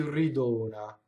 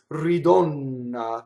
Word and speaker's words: ridona: Che ci ridona. Ridona, closed O, one N, right? The mistake is ridonna that you could make.